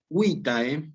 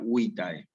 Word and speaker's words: vitae: Vitae.